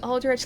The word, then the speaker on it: Aldrich: figure out if it's Aldrich or Aldrich, but yeah, the game pronounces it Aldrich, I'm pretty sure.